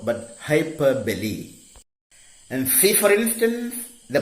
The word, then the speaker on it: hyperbole: We term it hyperbole in poetry, not its pronunciation, not hyperbole, but hyperbole.